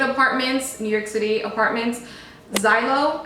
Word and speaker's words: Zillow: Zillow, I think you pronounce it, probably wrong.